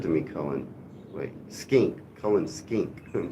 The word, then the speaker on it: Cullen skink: You ever had Cullen sink? Hello, Sam. Good to see you. That kind of looks good to me, Cullen. Wait, skink. Cullen skink.